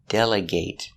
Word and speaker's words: delegate: next example is delegate delegate is a verb we use a long a delegate the boss needs to